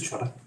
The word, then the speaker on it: Chada: And did I pronounce it wrong? Is it Chada? And- It's Chada.